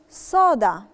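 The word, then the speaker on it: soda: فيها الاس صريحه سالي صودا صودا صودا صودا صودا صودا نطاقنا فيها برضو القس واضحه وصريحه علشان القاعده اللي احنا اتعلمناها ساسو ساسو ساسو ساسو ساسو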